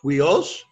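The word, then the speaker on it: υἱός: So it's huios. Huios. Why is the accent on the second, in that second syllable, why is it on the upsilon? Because again, the accent's always going to be on the second vowel of a diphthong, okay?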